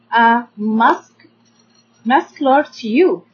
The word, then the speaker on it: muscular: We can divide it into 3 syllables. We have the first syllable is m, a like umbrella, mas. And then we have k, a again like umbrella, so it's maska.